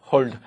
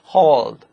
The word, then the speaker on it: hold: 거기에 여러분들 이 혀 끝이 딱 이렇게 딱 붙어야 됩니다. L 소리는 꼭 그렇게 나야 됩니다.